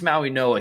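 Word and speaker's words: Mauigoa: Francis Maui Noah, he has 26 career starts.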